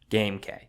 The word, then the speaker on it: GameK: Now I know you're probably thinking GameK. Yes, that is how you pronounce my channel name.